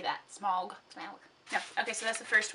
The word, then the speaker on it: Smaug: get to the mountain that's the desolation of smaug smog smog how do you say that smog okay so that's the first one and then